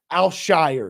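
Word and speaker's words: Al-Shaair: name right I got I work on it alshire excuse me aiz alshire it's interesting to me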